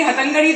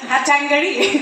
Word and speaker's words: हतंगड़ी: उन्होंने क्या कहा, हैट Tang eri, हैट टैंगड़ी। सो इट वाज इन a British accent but at least people could pronounce her name.